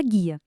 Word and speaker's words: guia: Um exemplo que deixa isso bem claro é a palavra guia. Ela tem quatro letras, certo? Mas na hora de falar a gente não pronuncia o som do U. Então, na verdade só temos três fonemas.